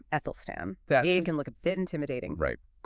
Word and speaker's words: Æthelstan: But first, that name Ethel Stan can look a bit intimidating, right? Quick pronunciation note for everyone. It's like the A in cat. So, Ethan. Ethel Stan.